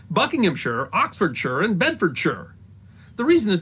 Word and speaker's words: Bedfordshire: that Buckingham Shire Oxford Shire and bedfordshire are pronounced buckinghamshire Oxfordshire and bedfordshire the reason is not laziness or dialect it's